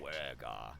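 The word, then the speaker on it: duergar: Dwergar.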